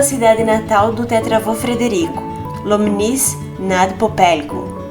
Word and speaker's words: Lomnice nad Popelkou: Começamos pela cidade natal do tetravô Frederico, Lomnice nad Popelkou, e mal sabíamos pronunciar esse nome.